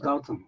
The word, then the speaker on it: Gautam: with me, is it Gautam? Gotham, yeah, Gotham. Gotham, Gotham, like the Batman movie. Gotham, Gotham. but there's no TH. Yep. So it's just G-A-U-T-A-M, but the T is pronounced th.